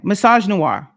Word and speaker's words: Misogynoir: Misogynoir. That's how you say it.